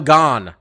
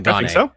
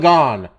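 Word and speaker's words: Gane: for this one fight cyril gone i'm i finally said it right i i stopped with the gun i'm going surreal gone taking on um alexander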